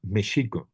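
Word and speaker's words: México: the in the mill we use the original pronunciation it was meeso listen how it falls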